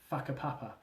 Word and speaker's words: Whakapapa: side, purely because the other side was called Whakapapa, a Maori word usually used to refer to their tribal hierarchy and genealogical structure. And in Maori, Hua is pronounced F, making the name of the place Whakapapa.